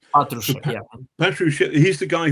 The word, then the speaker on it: Patrushev: And Natru- It's Natrusian. Am I pronouncing that correctly? Uh could could could you repeat this? It's the head of the SVR, I think. it's it's it's it's it's Patrushev. Patrushev. Patru- It's Patrushev, yeah.